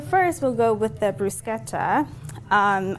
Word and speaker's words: bruschetta: we'll go with the brusketa um I like to say it like that cuz it's Italian so